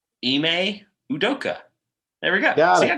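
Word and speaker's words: Ime Udoka: course the listeners were looking forward to me mispronouncing his name it's eeme udoka there we go see I got it right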